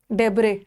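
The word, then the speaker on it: debris: Siesta, डेब्रे, डेब्रे इसका है silent.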